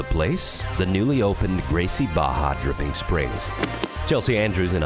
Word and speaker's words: Barra: Don't be fooled by the two R's. It's actually pronounced Barra.